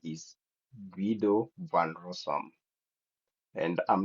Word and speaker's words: Guido van Rossum: And then the second person here, um, the way I pronounce this name is Guido van Rossum.